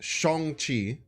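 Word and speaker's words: Shang-Chi: feels awful so Sean first of all it's pronounced chongqi is how it's pronounced on top of that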